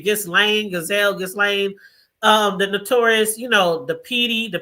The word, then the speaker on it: Ghislaine: And I know I always say her name, Ghislaine, the notorious, the PD, the pedophile, Jeffrey Epstein. Giselle, why I keep calling her Giselle? Her name is Ghislaine. I think that's how you say it, Ghislaine.